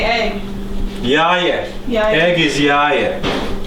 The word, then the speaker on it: jaje: Jaje.